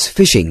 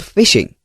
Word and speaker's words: phishing: But one thing I can't understand is why is it called phishing? Well, the word fish is pronounced just like fish.